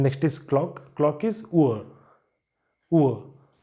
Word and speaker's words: Uhr: Clock is Uhr. Uhr. So this letter R is appearing in the end, so you don't pronounce it.